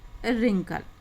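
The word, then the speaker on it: wrinkles: कल स्प्रिंकल और यह रिंकल्स इस में डब्लू साइलेंट है हम सिर्फ आर का उच्चारण करेंगे प्रियंकल स्प्रिंकल और रिंकल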